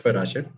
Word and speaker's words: Parashar: Uh so my name is Paraser. You can find me on Instagram with hers_parasher_. Paraser is spelled with P A R A S H A R.